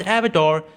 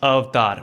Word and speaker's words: Avatar: कि नहीं नहीं नहीं, इट्स नॉट एवाटार, इट्स अवतार.